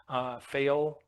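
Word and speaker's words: Pfeil: It's file, I think is how you say it. Fail. P-F-E-I-L.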